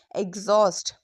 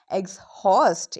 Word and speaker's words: exhaust: E X H A U S T exhaust. It's not exhaust, it's exhaust.